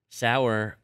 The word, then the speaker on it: dour: okay okay so what do we want to do do we want Dow Todd do you want D or sour I think the easy